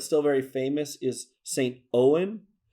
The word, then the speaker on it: Eoghan: Owen. If you look him up online, it's going to be Eoghan. So yeah, it's not going to look like Owen, but that's how it's pronounced. St. Owen.